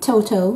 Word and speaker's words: Toto: Toto is how you say it.